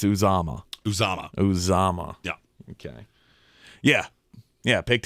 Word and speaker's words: Uzomah: Oh, it's hilarious because his name is CJ Uzomah. Uzomah. It's not Uzomah.